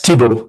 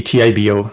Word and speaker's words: Tibo: Uh, it's Tibble. So, could just be Tibbo. That's the French I like to add letters.